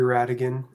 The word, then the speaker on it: Radigan: uh same thing LinkedIn Radigan uh there's just a silent h in that last name um couldn't just